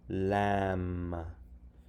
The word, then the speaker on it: lamb: Okay, next, silent B, and comb, lamb. Now, this looks like a closed syllable, right? It's a vowel followed by a consonant, but it doesn't follow the rules because we don't say comb. I comb my hair.